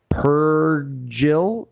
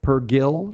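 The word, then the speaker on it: Purrgil: uh with the space Wheels which are called per Jill per Gil yeah I didn't know how to pronounce that word p-u-r-r-g-i-l Star Wars Canon they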